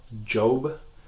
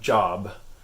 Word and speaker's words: Job: the of the Bible o job so it's not job its job and you as in